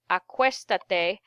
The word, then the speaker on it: acuéstate: I add the te, acuéstate, and I add an accent on the vowel prior to the AR, which in this case is part of the stem change, the E, acuéstate.